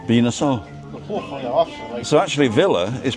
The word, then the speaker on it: Villa: So actually, Villa is pronounced beer. Yeah. Yeah, Villa. V-I-L-L-A is B-I-Y-A. Beer. Yeah. So, Well, because double L's Y, like paella.